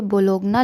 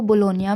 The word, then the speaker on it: Bologna: हम लोग ये सिटी यहाँ पे बोलोगना लिखा हुआ है BOLOGNA, बट हम लोग जब इसे प्रोनाउंस करेंगे तो इसे कितने लोग बोलोनिया या बोलोना बोलते हैं।